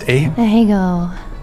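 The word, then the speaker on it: Ahegao: What is how's it pronounced? Ahego.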